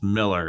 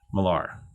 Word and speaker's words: Millar: and they were like it's pronounced miller it's not malar i don't know mark